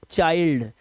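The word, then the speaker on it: child: आई के बाद ND bind ये वाइल्ड और ये अब इसीलिए इसे चिल्ड नहीं पढ़ते। इसको पढ़ते हैं चाइल्ड।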